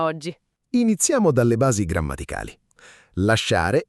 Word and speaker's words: lasciare: La regola è: quando SC è seguita da O o A, di solito si pronuncia come la SC di scuola, dura. Ma lasciare vuole mantenere il suono dolce in tutta la coniugazione, quindi tiene quella I come scudo, cioè come protezione del suono.